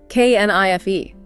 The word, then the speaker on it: knife: K N I F E, but no K sound, just knife.